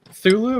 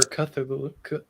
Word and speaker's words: Cthulhu: Thulu or Cthulhu? Cthulhu. Cthulhu, whatever. Thulu. Yeah. Okay. However you pronounce it. It does have a C, but I don't know that it's pronounced really.